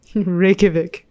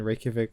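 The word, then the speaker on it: Reykjavík: I pronounce this again Reykjavik Reykjavik Reykjavik Reykjavik Ricky the J is like a why I see in the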